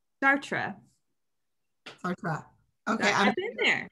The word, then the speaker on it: Chartres: I want to say chartreuse. I'll say chartreuse because I don't know French. Chartres.